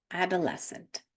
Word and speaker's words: adolescent: читаємо окремо с ц а в англійській мові читається с с тому Зливається в один звук Science seen sent disciple fascinating septer Side descentsene adolescent цих слів небагато їх